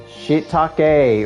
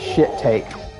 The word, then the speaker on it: shiitake: Toadstool, Princess Toadstool, and Shiitake, or when I was a kid, I used to pronounce it as shit take. Because I couldn't pronounce shiitake mushrooms.